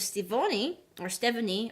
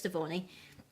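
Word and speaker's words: Stevonnie: There was one where Steven and Connie were hanging out, and there was also a glimpse of Stephanie, or however you pronounce that. I'm pretty sure it's Stevoni.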